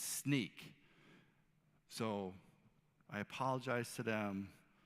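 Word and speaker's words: Snyk: It's not Sync, it's Sneak.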